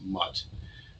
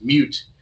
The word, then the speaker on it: MUT: So that's actually not pronounced MUT. That would be 2 T's, right? It's pronounced mute, and it's the mutant version of this gene.